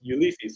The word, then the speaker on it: Ulysse: And so ever since then, in my brain, name is pronounced Ulysses. So it's an American that was pronouncing my name, and I accepted that because we have a president was Ulysses S. Grant, and so when they see Ulysses, they just think it's pronounced the same way, Ulysses, and so that's how they pronounce it.